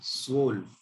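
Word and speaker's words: zwölf: इसको बोला जाता है स्वोल्फ। इसकी स्पेलिंग होती है ZW। यहाँ पर जो O है ये उमलाउट वाला है, दो डॉट्स है ऊपर, तो O में उमलाउट, L और F। इसको बोलते हैं सोल्फ।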